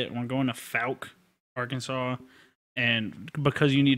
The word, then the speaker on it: Fouke: that's how you say it we're going to falc Arkansas and because you need to write this